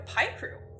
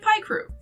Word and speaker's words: Picrew: and suffering today, because I say it Picrew. I'm an American, and that means it's my God-given right to pronounce words as stupidly as I please.